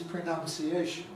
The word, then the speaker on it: pronunciation: Well, I'm sure the predominant pronunciation is pronunciation, with nouns in it, you know, regularising the morphology.